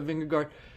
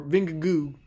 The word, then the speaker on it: Vingegaard: Great work by Vingegaard, or Vingegoo is, I think, the pronunciation.